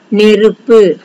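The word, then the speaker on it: நெருப்பு: Neruppu. Neruppu means fire. Clear? Ne, ru, ippu.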